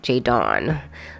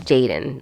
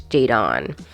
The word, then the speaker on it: Jadon: spelled with an O I always want to say a j dawn like Jay Dawn instead of Jaden like it's Jadon um Jade on like I'm